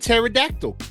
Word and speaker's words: pterodactyl: __ ] how SP why is it a silent p and pterodactyl out